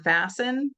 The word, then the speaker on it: fasten: So like in the word fasten, like fasten your seat belts, we don't really hear the t.